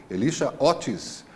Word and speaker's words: Elisha Otis: Foi o Otis, um tal de senhor Elisha, pronúncia em inglês, Elisha Otis, que foi o que